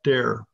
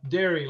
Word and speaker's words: Derry: have which is Robert dare is Robert D dare am I saying your last name correctly d Robert hello it's uh Derry like the cow Derry okay sorry for mispronouncing